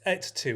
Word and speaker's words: et tu: And I've got to pronounce it right, it's et tu, isn't it? Et tu cavapoo. Yeah. Yes, because it's Latin, et tu, Yeah.